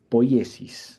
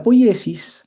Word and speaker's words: poiesis: Bien, la poiesis, como les decía yo, poiesis, también se pronuncia a veces poiesis simplemente, pero bueno, la tilde normalmente en el griego antiguo está en la, en la, en la iota.